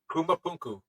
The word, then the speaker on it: Pumapunku: Rarely quote this show, but there is one spot they go to a lot that always amazes me, and I believe it's pronounced Pumapunku.